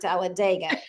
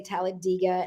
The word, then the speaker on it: Talladega: So now I know that the locals say Talladega and everyone else says Talladega.